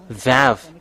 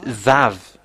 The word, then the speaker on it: vav: This is VAV. It's VAV. We can see here. I slide it. And that is how to pronounce it, VAV. VAV. It's like you close your mouth, VAV.